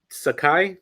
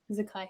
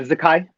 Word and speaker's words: Zakai: You and Sakai, is that how you pronounce it? Zakai. Yeah, Zakai. Okay, seeing y'all two step up one on one in the ring and everything.